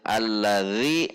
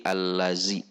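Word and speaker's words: الذي: Mungkin kesalahan ini karena translasi yang ada ketika menggantikan huruf zal adalah dengan huruf D dan huruf Z, sehingga kita sering membacanya menjadi Z. Alladzi menjadi allazi.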